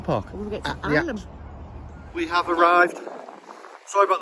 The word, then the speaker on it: Ilam: No, it's I-L-A-M. It's pronounced Ilam.